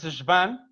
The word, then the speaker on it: Schwann: Acuérdense de Schwann, que no es Schwann, es Schwann, en el caso de las que producen las vainas de mielina en el sistema nervioso periférico.